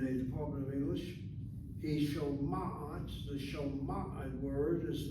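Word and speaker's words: שומעת: He shoma'at, the shoma'at word is not shomet.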